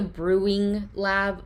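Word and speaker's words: BrewWing Lab: That's called the Brewing Lab, but it's spelled like BREW/WING. Yes. Because they do mostly wings.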